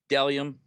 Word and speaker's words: Bdelliom: Next, Delium. Boom. Got the shirt. My guy Isaac over at Delium. It's spelled Bdelliom.